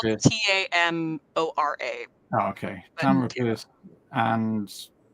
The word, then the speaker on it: Tamora: It's spelled Pierce. Tamora.